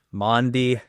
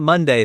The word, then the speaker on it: Maundy: Maundy, not Monday, Thursday, Maundy Thursday.